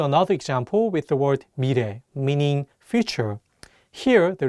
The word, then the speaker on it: 미래: Let's do another example with the word 미래, meaning future. Here, the real consonant is between the vowels E and 에, so it'll have more of an R sound. Let's say it together, 미래.